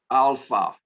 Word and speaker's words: alpha: This is alpha, and it's the ah sound, not an eh sound or an a sound as in English sometimes, but ah, a good British ah. Americans say eh sometimes for the A, but we say alpha, alpha, but it is our A sound.